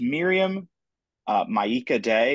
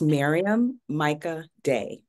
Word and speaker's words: Maryam Myika Day: How do I say, okay, so it's Miriam Myika Day, is that correct? It is not correct. It is pronounced, it's okay. It's pronounced Maryam Myika Day.